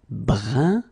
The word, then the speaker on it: brun: Then another example, brun, brun, okay, fin, brun, fin. So you write it differently, but then you pronounce it like the first one.